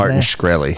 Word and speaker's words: Martin Shkreli: I can't remember how to pronounce his name. Martin Shkreli.